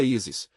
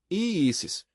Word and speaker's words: Isis: É o mantrão dos mistérios isíacos, que se pronúncia isis, se reparte em duas sílabas, i eis. I eis. O s é como assobio, doce e aprasível.